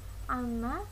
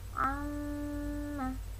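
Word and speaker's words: عَمَّ: Jadi kalau kalian nanti membaca Al-Quran, membacanya itu bukan apa tadi? Bukan amma, tapi amma. Amma yatasaalun. Nah, itu di situ ada bacaan bertasydid, maka dibacanya bukan amma yatasaalun, tapi amma yatasaalun.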